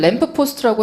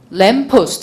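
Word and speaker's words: lamppost: 트래픽 라이트를 램프 포스트라고 해서 오답 이렇게는 안 나오거든요. 그러니까 너무 겁먹지 마시고 이런 단어가 나오겠거니라고 알아두시면 돼요. 근데 요거는 램프 포스트라고 읽는 게 아니라 어떻게 읽어야죠? 램포스트 시작. 램포스트 알아두시고 이거는 저 단어를 모르더라고.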